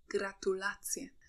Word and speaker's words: gratulacje: Please note that the word stress in Polish is fixed on the second to last syllable. So we read ananas, banan, aleja, gratulacje.